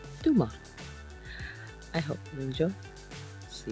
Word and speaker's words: Tomar: is a video about pronounced by the locals Duma I hope you enjoy